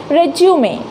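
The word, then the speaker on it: résumé: तो इसमें आपको डिफरेंस पता चला, तो आज से आप इसको क्या प्रोनाउंस करोगे? तो वो करोगे रेज्यूमे।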